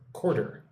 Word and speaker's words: quarter: So, say this word like this. Say two syllables. Cor quarter.